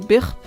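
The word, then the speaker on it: birb: I call them birp. Don't ask me why. It's like spelled like B-I-R-B, like burp, but it just got corrupted into birp, and now I call them my birps.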